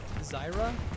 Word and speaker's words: Zarya: of Howard as they did switch to a Zyra. That's how you pronounce it. Zarya.